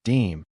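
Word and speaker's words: disme: The very first coinage of the United States Mint included a small silver coin called a half dime pronounced deem an old French word for tenth, hence halftenth.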